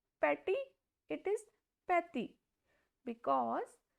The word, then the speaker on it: petit: The pronunciation will be petty. It is not petty, it is petty because T has very soft sound in French language.